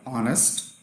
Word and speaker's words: honest: For example, if you take example of a word like honest, so you write it as given in the slide, H-O-N-A-S-T, but you not necessarily pronounce it in the similar fashion.